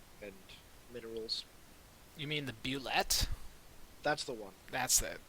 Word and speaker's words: bulette: You mean the bulette? That's the one. That's it. You said it all I French would, like. The bullet. well, Is that's it how I've always said it because it's spelled all French-like.